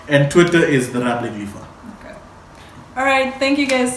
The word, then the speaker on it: Lifa: Lifa is LIFA, just in case, because I know some of you call me Lifa with an E. It's LIFA. Lifa.